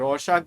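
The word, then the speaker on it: Rorschach: ये रशाक बोलते हैं बट रॉस चाच है।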